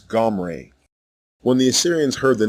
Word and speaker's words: Omri: as an inversion omri the correct way to say the king's name is gomray when the assyrians heard